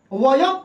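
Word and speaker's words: वयम्: आज शुरू में अगर व अक्षर रहे तो उस व अक्षर को हम ब से उच्चारण कर सकते हैं। किससे? जी? ब से। तो इसको हम वयं ना पढ़कर हम वयम भी पढ़ सकते हैं। यानी कि वयम भी पढ़ेंगे।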